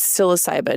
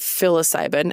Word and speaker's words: psilocybin: messages me they're like it's psilocybin not fil ayban and I'm like well